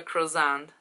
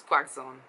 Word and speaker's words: croissant: doing some interviews, he pronounced croissant as quaxon, like a real bad pronunciation.